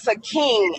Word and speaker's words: Sakim: It's not Sakim. It's not Sakin. It's Sakim. So his name is Sakim. Imagine you guys are calling him Sakin.